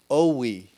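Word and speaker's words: Owyhee: and Sheriff Aean from Oowi, I don't know how to spell it, but I know that's how you pronounce it. Owie County, Idaho, told the BLM to get lost.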